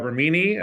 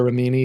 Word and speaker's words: Remini: Leah Remini, I think that's how you pronounce her last name. Leah Remini.